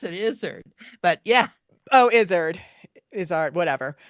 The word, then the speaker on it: Izzard: Eddie Izzard as one of the Fates. Oh, Izzard. I pronounce it Izzard.